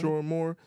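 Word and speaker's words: Sherrone Moore: Sharon Moore, I think it's how you pronounce it. Sharon Moore, okay. Sharon Moore is how you pronounce the gentleman's name.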